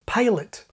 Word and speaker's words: pilot: By the way, John points out that some words in his comma set have the kit vowel in Scotland. He gives the example palet.